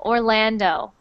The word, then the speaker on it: Orlando: good next one Orlando when you say that o sound at the end it's actually an O Orlando Orlando Orlando good next